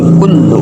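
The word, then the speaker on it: كُلُّ: Kul tasdid lam. Tasdid itu huruf yang double. Berarti di situ ada huruf lam dua ya. Yang pertama itu mati, yang kedua hidup berharokat domah. Maka dibacanya kan ing kullu.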